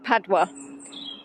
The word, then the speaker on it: Padua: I actually listened to Google Pronounce because I've been calling it wrong. So it's Padua.